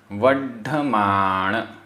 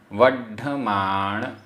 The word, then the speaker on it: वड्ढमाण: जो, जो, वड्ढमाण, आधा ड ढ, वड्ढमाण लच्छिम, आधा च छ, वड्ढमाण लच्छिम, वड्ढमाण लच्छिम।